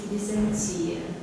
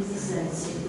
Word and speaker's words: Византия: Мы привыкли слышать Византия. Вы несколько раз сказали Византия. Вы не историческая Византия. Ну, может быть, там плавающее ударение, можно говорить и так, и так.